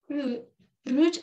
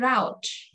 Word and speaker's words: route: Route and route. Route itu British, route itu American. So we got two ways of pronouncing route or route.